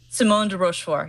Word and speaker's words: Simone de Rochefort: Does Simone de Rochefort pronounce her name that way? Simone de Rochefort.